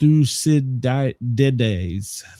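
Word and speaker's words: Thucydides: Uh, see, it's pronounced thusides. Thusidi.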